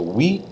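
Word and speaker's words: oui: to know like we we almost sounds like the number eight doesn't it but not saying the T at all so we is yes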